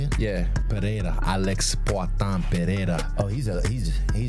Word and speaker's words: Pereira: Yeah, Pereira.